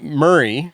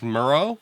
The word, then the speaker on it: Murrah: were at the Alfred Murrah Building. By the way, in the first 2 episodes, I said the building name wrong. Oh, Would you say? So it's not Murray. it's Murrah.